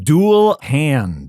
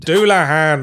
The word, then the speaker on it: Dullahan: ones I can pronounce an hair jar it's pronounced an haar say tires it's satas okay I think I got this one dual hand douah hand it's a Headless Horseman from Irish folklore you